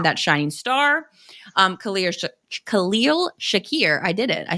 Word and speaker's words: Khalil Shakir: Um Khal Khalil Shakir, I did it.